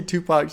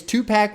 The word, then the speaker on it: Tupac: I say the word pack. It cracks me up, man. When I see Tupac and I pronounce it pack. Tupac. That's not how you're supposed to say it.